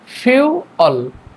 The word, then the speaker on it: fuel: কিন্তু এটার ফনসিয়েশনের ক্ষেত্রে প্রথমে উপরের দাঁত নিচের ঠুটের উপরে হালকা লাগিয়ে বাতাস বের করে উচ্চারণ করতে হবে। ফিউ ফিউ তারপরে হচ্ছে অল ফিউল।